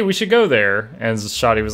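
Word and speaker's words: Xoti: I've constantly almost read it as Zodi. Like, it's gonna be Shoddy, started with SH. Makes more sense. You can't just be like, the X is silent and the SH are invisible, but also there.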